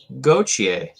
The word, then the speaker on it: Gauthier: this episode we're going to talk about cutter gautier huh listen to that pronunciation um i really wanted to say cuter